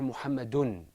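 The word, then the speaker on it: محمدٌ: we gave is Mohammed Mohammed with tanween is pronounced or Mohammed in or muhammadun so whenever we had this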